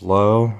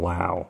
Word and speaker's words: Lowe: Josh Lowe, rated rookie. Is it Josh? It's Josh Lowe, and then it's Brandon Lau, I think. Spelled the same, so.